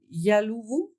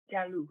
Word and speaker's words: Jalu: Hello, and how do I pronounce that name? Yaluvu? Jalu, yeah. Jalu.